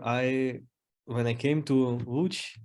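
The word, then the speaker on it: Łódź: when I came to watch that's the way that loads is pronounced in Polish uh with the discussion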